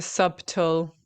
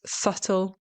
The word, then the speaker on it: subtle: So, of course, the common mistake here is that people are using the B. They're trying to pronounce the B. There was a subtle. It's not subtle. Okay. It's subtle, which hopefully is easier for you to pronounce.